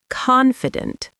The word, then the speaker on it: confident: Some learners say confident with the stress at the end, but in American English, the stress is at the beginning. Confident. Confident. The last syllable is very light, almost like dunt.